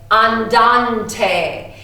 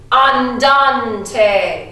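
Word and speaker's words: andante: I love this one it's fun to stay on Dante can you say that for me one two three on Dante you sound so much smarter just because you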